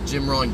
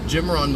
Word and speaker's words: Jim Rohn: Wonderful, wonderful, wonderful example Jim Rohn gave me.